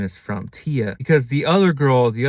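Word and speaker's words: Thya: Tia is her her name. Um it's spelled T H Y A. Tia.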